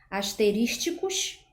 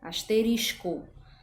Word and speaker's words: asterisco: nós temos por exemplo a palavra asteristicos seria a pronúncia inadequada e a pronúncia adequada seria asterisco tá então a gente